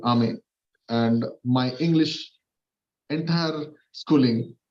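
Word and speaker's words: Hermès: Actually, I was told this is not the pronunciation that you have. It's not Hermes. It is HERM. MIS is called Ame, and my English entire schooling fails to pronounce the name.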